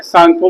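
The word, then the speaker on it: Tsangpo: आपको ये भी बताया मैंने, सांगपो में टी साइलेंट होता है, ठीक है ना।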